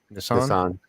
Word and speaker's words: Nisan: How's that pronounced? Nisan.